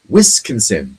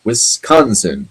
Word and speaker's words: Wisconsin: So Patrick Stewart thinks the state, or at least thought the state is pronounced Wisconsin, not Wisconsin.